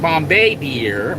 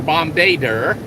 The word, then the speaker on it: Bombardier: Somebody says the French actually pronounce it like Bombay Deer or Bombardier.